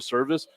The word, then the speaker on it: Servaes: It is Servaes. Yes. That does not sound like service to me, So- but I am with it.